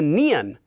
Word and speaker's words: 니은: We have the nian, which is made by taking it and attaching I.